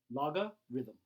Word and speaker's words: logarithm: word right here logarithm let's break it into pieces miss four syllables these two are kind of say said pretty quickly together la laga rhythm rhythm loga rhythm a lot of times